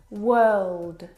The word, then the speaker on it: world: world and work now you're probably mispronouncing these words because you are looking at the O R and you're trying to pronounce the vowel sound or like in door but this is incorrect the vowel sound is actually as in her work world word this is your